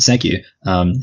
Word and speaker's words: segue: And this is the segue here.